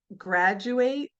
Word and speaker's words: graduate: But this same phenomenon happens when you have like um graduate. you say the same thing. Grad like the D in dress becomes a J sound.